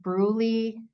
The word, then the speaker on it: Brule: that's why I said bruly but it's lower Bru this is the only